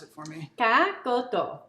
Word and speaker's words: Cá Kho Tộ: And pronounce it for me. Cá Kho Tộ. Cá Kho Tộ.